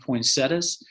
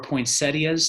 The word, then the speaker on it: poinsettias: And now turning towards some more worshipful things, we are still going to have ordering of poinsettias or poinsettias, depending on your pronunciation.